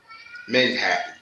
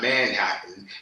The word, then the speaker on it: Menhattan: Menhattan. Not Manhattan. Not Manhattan like to say. I'm going to pronounce my name. I'm going to take the time to pronounce my name real quick. Or you can say Manhattan. Not Manhattan. It's Menhattan. Menhattan.